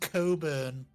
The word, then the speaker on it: Cockburn: It's the thirsty scion, and It's her the- name is Cockburn. Cockburn. I bet it's one of those surnames where I've known people have it spelt like that, and it's pronounced Coburn. The CK is silent.